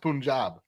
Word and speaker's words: Punjab: understand this is amazing sorry it's Punjab that's it's pronounced Punjab well you think he's